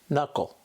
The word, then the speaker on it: knuckle: words here are some examples no knee knife knuckle the second Digraph we'll look at with a